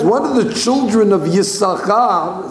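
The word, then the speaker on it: יששכר: Therefore, we don't pronounce it because he gave it away. Therefore, we say Yisachar, because technically he only has one sheen left in his name, because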